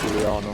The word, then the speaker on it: Juliana: No, it's like, it is Juliana. That's how you say it. It's spelled the same, but it's how you say it. Oh, but that just, it sounds posh though.